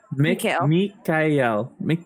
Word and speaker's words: Mikael: I want to call him Michael, but that's not right. Mikael.